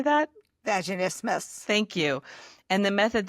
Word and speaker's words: vaginismus: Vaginismus.